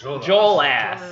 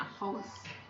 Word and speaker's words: Jolas: Jolass. Oh, I was pronouncing it Hollis.